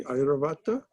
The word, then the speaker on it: Airavata: I am Airavata among the royal elephants. That must have been some elephant. Did I pronounce that correctly? Airavata? Yes, Airavata is correct.